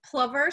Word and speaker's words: plover: Piping plover, some people call them plover, saying that it rhymes with lover.